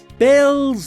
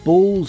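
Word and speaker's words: Baelz: and vice commissioner Pierre it's Bells not Bulls I be pronouncing that wrong the entire time oh dear that's correct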